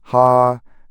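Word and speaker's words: הַנְּפִלִים: The familiar English pronunciation is NEF-uh-lim, while a teaching pronunciation of the Hebrew form sounds closer to hah neh-fee-LEEM.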